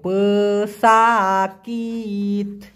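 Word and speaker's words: pesakit: উচ্চারণটা হবে প সাকিত, কারণ সাকিত মানে হলো ব্যথা, প সাকিত মানে হচ্ছে অসুস্থ ব্যক্তি।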